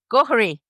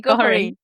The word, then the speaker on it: Gohery: Ghari. Ghari. You have to sound Irish to say it.